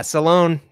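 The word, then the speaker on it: Salaün: But another name that is polarizing is Tidjane Salaun. I believe I said that right, Derek. What do you think, draft expert? You did say it right. Yeah, Salaun, 6'10", bulky, bulky frame, stands to add even more to that.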